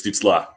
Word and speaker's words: Stützle: And you got to say it right, too. It's Stützle.